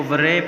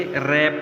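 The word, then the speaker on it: wrap: रैप, इसको वरैप नहीं पढ़ना हमने बल्कि रैप पढ़ना है इसको।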